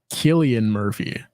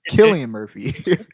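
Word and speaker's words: Cillian Murphy: I actually know that it's actually pronounced Killian Murphy and I had someone correct me on this very recently oh dang okay Killian Murphy Killian Murphy yeah um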